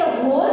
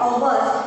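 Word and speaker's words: hour: तो यहाँ पर हम इसे होल नहीं बोलते हैं, हम लोग क्या बोलते हैं, ओवर, क्या बोलते हैं, ओवर। सो यहाँ पर एच जो है वो साइलेंट है, तो यहाँ पर ओवर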